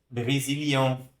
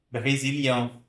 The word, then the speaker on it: Brésilien: São uma vogal, a gente chama de vogal nasal, né? Pronuncia aqui com nariz. Brésilien, Brésilien, tá? Brésilien.